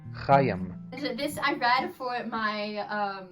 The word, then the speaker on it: Chaim: I know it's not Chame, it's like Hem, or something like that. I can't say it right. Maybe I'll insert a good pronunciation. Chaim.